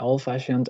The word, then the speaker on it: old-fashioned: Bad-tempered and old-fashioned are 2 compound adjectives stressed on the second syllable.